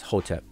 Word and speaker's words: Hotep: But this represents the consonants H, T, P, and we say it, pronounce it as Hotep.